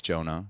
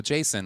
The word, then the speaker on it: Jonah: sometimes they'll be like but my name is Jonah they go Jason I go that's not